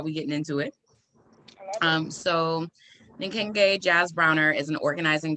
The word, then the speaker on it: Nkenge: Yeah, so it means, well, it's pronounced Nkenge.